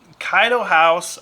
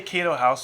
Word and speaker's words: Kaido House: go over here um kaido house i always say keto house so i apologize to